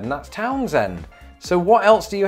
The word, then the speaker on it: Townsend: we'll go with that torn's end it was the other vowel sound so again according to another reddit user who is from delaware apparently it is pronounced townsend ind okay well that's it